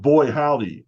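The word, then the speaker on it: Buoy Howdy: I mean, I created in my next project with Joe Bennett, I created this seafood-based fast food chain called Boy Howdy, and boy is spelled B-U-O-Y.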